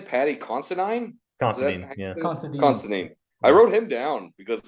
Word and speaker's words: Considine: Considine.